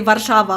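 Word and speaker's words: Warszawa: saying that in english in english i definitely say warsaw in polish i say varshava obviously or vava sometimes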